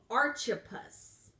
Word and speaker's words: Archippus: real so let's talk about a guy named Archie puss and you're like I've never heard of that